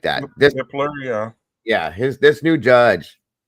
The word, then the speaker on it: Hippler: Hippler, yeah.